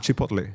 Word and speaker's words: Chipotle: How's that pronounced? Chipotle. Chipotle. Right? Chipotle. Okay. Yeah. Chipotle. Yeah. Not Chipotle.